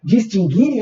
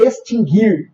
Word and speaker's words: distinguir: e o verbo extinguir não tem pronúncia para o u então nunca teve trema